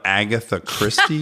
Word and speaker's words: Agatha Christie: turns I know that are out of an Agatha Christie novel is that how we say her name